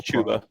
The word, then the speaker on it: Chuba Hubbard: I mean, I will never get over pronouncing his first name Chuba. If he's Chuba Hubbard, like he's an all Chuba.